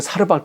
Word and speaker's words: 사르밧: 원래 이제 구약성에는 사르밧 과부라고 돼 있죠. 그건 발음상의 차이예요. 히브리어로는 사르밧이고요. 아람어로는 여기 사렙다. 그러니까 뭐 틀린 게 아니에요.